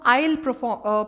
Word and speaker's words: aisle: इसको हम aisle pronounce करते हैं as shampoos.